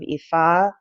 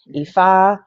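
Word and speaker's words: Ifá: a spiritualist I am also a follower of EA it's a a a Trad traditional African religion it's spelled IFA EA um Sania um con blé they all come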